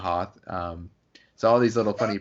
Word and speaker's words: Hoth: funny things about like George Lucas always says host instead of Hoth so all these little